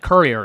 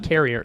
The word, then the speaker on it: courier: say it like that cuz that's what how it said Courier it's not it's not carrier carrier no that's not different